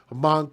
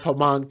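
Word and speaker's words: Hmong: The Twin Cities area is home to the largest concentration of Hamang people in the United States. And again, that word mong or hamang is h m o n g. That's the way it's spelled.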